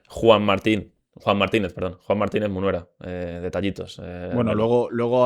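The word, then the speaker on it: Juan Martínez Munuera: Juan Martínez, perdón, Juan Martínez Munera, eh, detallitos.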